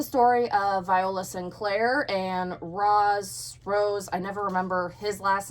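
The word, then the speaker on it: Roze: But, so, Rose, it tells you how to pronounce it, but it's spelled R-O-Z-E.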